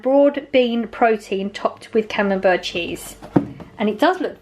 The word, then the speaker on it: Camembert: I'm assuming that's how you say it, camembert. You don't say the T, do you?